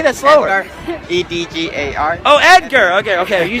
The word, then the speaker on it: Edgar: how do you say that say that slower e d g a r oh Edgar okay okay you just have an